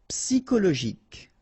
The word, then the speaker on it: psychologique: Psychologique, okay, remember at the end you've got this K, okay, so ic, and then Y is pronounced like I, psy, and then it's an exception here because normally we should pronounce it chaud, okay, but then we pronounce it co.